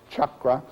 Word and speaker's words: chakra: a the C in as it's transliterated from Sanskrit always is pronounced as that CH chakra uh which means wheel